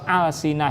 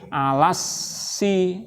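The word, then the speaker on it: ألسنة: Tapi kalau al-sinah ini jamak dari lisan. Lisanun jamaknya al-sinatun. Jadi alnya ini bukan al sebagai tanda isim. Bisa dipahami? alnya ini bukan al sebagai tanda isim. Karena kalau alnya ini sebagai al tanda isim, maka membacanya nanti alasi. Nah, alasi seperti hiasun gitu.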